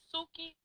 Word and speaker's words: Suki: Suki, Coochie. Say it with me. Suki, Coochie. Suki Coochie. Suki rhymes with Coochie.